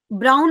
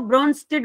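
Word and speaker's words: Brønsted: ठीक है, ब्राउन नहीं बोलते इसको, ब्रॉन्स्टेड बोलते हैं वैसे, ये एंड साइलेंट रहता है इसमें।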